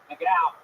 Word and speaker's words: McGough: It's McGough.